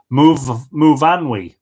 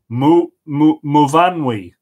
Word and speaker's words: Muvanwi: My name is pronounced Muvanwi, by the way, Anthony. Muvanwi, with the emphasis on van. Okay, Muvanwi.